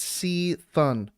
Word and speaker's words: C'Thun: Barack okay no it's it's uh c'thun e it's sea fun look okay a blue post phonetically seathon wait we got a blue